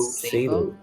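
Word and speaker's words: Sabot: No, but it seems to just want to load Sabo. I call it Sabo. Yeah, it's pronounced Sabo.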